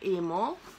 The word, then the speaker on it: Emo: Se la marca è Emo, Emo, perché ha l'accento sulla O, Italia E.